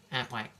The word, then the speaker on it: APWAC: I think it even says you have to pronounce it like a duck. APWAC, right? Okay.